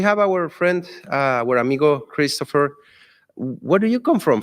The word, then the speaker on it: Kristoffer: How do you pronounce Kristoffer? It's Kristoffer.